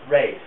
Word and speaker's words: Ralph: Except for Ray Vaughan Williams, which is how he pronounced it, and therefore I suppose one ought to follow.